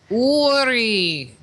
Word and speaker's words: Uri: Uri.